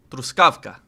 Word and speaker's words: Truskawka: Also near the city of Stróżówka, which sounds like Truskawka, which means strawberry. No, the missiles landed more east. It was on the east, so more over here in Zamość. Home. Anyone from home? Home? Wait, I say it wrong. Zamość. Zamość. Zamość. It means helmet. Strawberry? Truskawka? Truskawka. Truskawka.